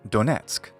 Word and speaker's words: Donetsk: by the same name in English we say Donetsk adjacent to donatsuk oblast is the region lujansk